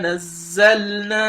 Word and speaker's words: نَزَّلْنَا: Fi raybin mimma nazzalna ala abdina. So you see how I pronounce the zal here as well. The zain here, I pronounce it with Shaddah. So nazzalna.